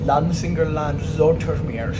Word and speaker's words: Lansingerland-Zoetermeer: Okay, we're about to ride that as the train just pronounced it, Lansingerland-Zoetermeer, so I was pronouncing somewhat wrong.